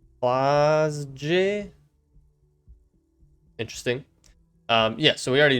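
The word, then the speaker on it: Klaasje: Oh, is it a G? Is it supposed to be like a almost like a G? They replaced G's with J's. Klausje.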